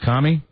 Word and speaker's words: Kami: hey Jay hey Jay your last name is commi uh yes not like communist I've heard all the